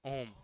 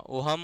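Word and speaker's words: Ohm: ओम। H silent होता है। एच क्या होता है? हां। ओहम। ओहम मत पढ़ने लगना।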